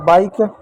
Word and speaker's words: bike: लिख दिया, हो गया बाइक। ठीक है फिर बच्चों, बाइक हो गया, ई आपका साइलेंट हो गया।